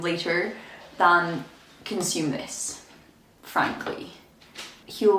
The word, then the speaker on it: Huel: than consume this frankly heal rhymes with gruel for a reason guys